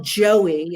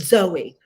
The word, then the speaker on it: Zoe: So it's, it's not Joey, it's Zoe.